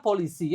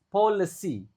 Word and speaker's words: policy: Oke, if policy makers, policy, nah ini juga cara bacanya bukan polisi ya, policy. Bukan polusi juga.